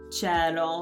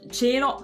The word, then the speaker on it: cielo: Ma nel nord è la pronuncia più comune, quella Sì. chiusa, cielo.